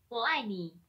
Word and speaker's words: 我爱你: It's pronounced 我爱你.